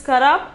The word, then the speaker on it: खराब: Pronunciation is खराब.